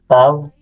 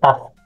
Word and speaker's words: Tav: Pronounced as Tav. Modernly, kapag nagpo-pronounce tayo kahit alphabet, Hebrew alphabet, Taf.